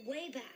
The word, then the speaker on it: WABAC: He calls it the Wayback.